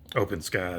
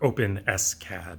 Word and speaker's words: OpenSCAD: this up in uh openscad and uh her open s cad to let me say it correctly in openscad and see if i